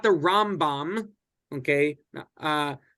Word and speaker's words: Rambam: we re we um we differentiate between these two by accenting the first syllable of maimonides his name and the last syllable of his name so that's how you you can just tell if I'm talking about the rom-bomb it's going to be Accent on ROM and if I'm talking